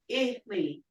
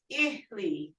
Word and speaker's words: Ihli: Ihli sounds, and that means foot or leg. So just how you pronounce these, Eli, Ihli, because it's the two short I sounds, Ihli.